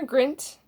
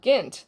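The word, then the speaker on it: Peer Gynt: of Helgeland, Brand, Peter Grint, or Gint, there's no R in there, Peter, I don't know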